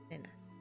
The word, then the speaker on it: nenes: Anything that ends in es in Catalan has an a sound. So when you actually write it, it's ellas son nenes, but it's pronounced ellas son nenas.